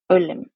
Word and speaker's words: Ulim: Dear Ulim, yes, Ulim, this is how your name is supposed to be pronounced. It's soft, beautiful, and poetic, and means forest echo.